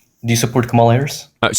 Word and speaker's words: Kamala: Because I think Camala Harris is a tyrannical oligarchic money hungry candidates.